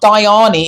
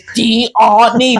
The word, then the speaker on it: Diani: They were like, it's not Diani, it's Diani. They probably spelt it out.